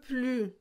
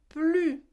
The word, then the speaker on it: plus: devez mémoriser c'est que on ne prononce pas le s ici d'accord elle n'en peut plus plus ok c'est pas plus c'est plus ok donc le s